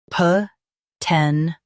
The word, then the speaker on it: potential: Potential. Now read the syllables shown on the screen naturally. Ten. Shul. Potential. Stress 10 and keep shul soft.